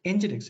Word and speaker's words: nginx: what is nginx so nginx if you have worked with it very good if you don't have worked with it then it is here nginx pronounced as nginx is a open source